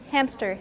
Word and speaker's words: hamster: quickly hamster hamster hamster do you feel there's a p in there yes hamster hamster so people tend to misspell the word within a p because you're you're inserting a p in the pronunciation oh you i should